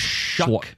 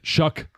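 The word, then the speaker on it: Shough: Sloth. Shuck. Shuck. It doesn't look like it, but it's shuck. because it rhymes with another word you would say if you were betting on him last season.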